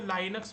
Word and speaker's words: Linux: तो बहुत सारे लोग इसको Linux भी बोलते हैं। अभी ठीक है? Linux बोलोगे तो भी चलेगा। बट करेक्ट प्रोनाउंसिएशन लinक्स ही होता है।